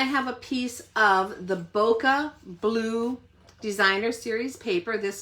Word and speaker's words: bokeh: This one has that kind of bokeh look to it or bouquet as some people pronounce it.